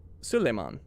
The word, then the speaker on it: Suleiman: Oh, Suleiman.